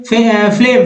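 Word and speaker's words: phlegm: फिर देखिए फ्लेम, फ्लेम, फ्लेम, फ्लेम में जी को नहीं पढ़ना, यानी कफ वल्गम, फ्लेम।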